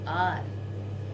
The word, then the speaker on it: hour: H is silent here.